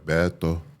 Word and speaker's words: Beto: Beto Beto.